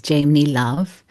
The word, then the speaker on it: Jaimini Love: Yes, Jaimini Love. I love I like the way you pronounce it, Lindsey.